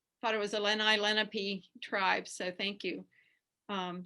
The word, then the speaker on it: Lenape: i said yes i i live off of lenape road and he said oh you mean lenape and i learned oh i i've been mispronouncing the name of the tribe and i've lived here